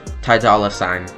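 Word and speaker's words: Ty Dolla $ign: Uh, it's a duo between Kanye West and Tai Dollar. Ty Dollar Sign uh to pronounce it more correctly.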